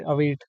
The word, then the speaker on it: await: इवेट, अवेट, जो भी बोल सकते हैं। मैं इवेट ही वैसे इसको प्रोनाउंस करता हूँ, वैसे अवेट प्रोनाउन, अवेट है इसकी सही प्रोनाउंसिएशन तो।